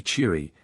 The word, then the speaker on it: Shire: to be pronounced thus it has not been considered necessary to put an acute accent over the e in Shire which by the by ought to be cheery and Paar wearing is